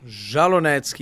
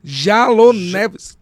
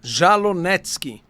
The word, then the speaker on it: Jalonetsky: E a pronúncia? Jalonevski. Jalonetsky. Jalonetsky. Olha aí, ó.